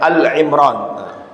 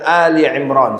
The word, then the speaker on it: Ali Imran: Bapak Ibu hati-hati membacanya enggak boleh mengatakan Al Imran sebagian orang mengatakan surat Al Imran kalau Alfatihah Albaqarah benar tapi Al Imran dibaca dengan Ali Imran surat keluarga Imran artinya